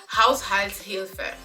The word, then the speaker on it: Haushaltshilfe: If you say it like if you directly translate it in English, it sounds like household help.